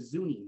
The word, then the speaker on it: Zuni: how you pronounce roads one of the segments happened to do with zuni zuni boulevard but in denver it's called zunai boulevard and as as as